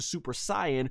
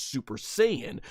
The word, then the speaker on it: Super Saiyan: is a suene which obviously translates to Super saan but is pronounced in the dub as Super Saiyan whatever you want to